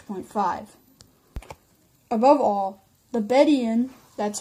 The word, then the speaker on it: Bedouin: you figure six point five above all the bed Ian that's how that word is pronounced if I was saying it wrong before